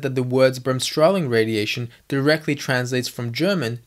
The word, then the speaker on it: Bremsstrahlung: to brim strolling radiation first of all pronouncing it is a challenge unto itself but spelling it is also a pain so what I do is just break it down into three words brems straw and lung so remember early earlier